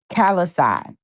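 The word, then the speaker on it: Callais: It is Calisai. Yeah, Calisai. Like Marseille. Calisai.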